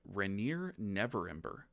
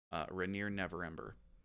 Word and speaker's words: Renaer Neverember: long enough to know, this is Rainier Neverember. And that is spelled, for those of you playing the home game, Renaer Neverember. Rainier Neverember.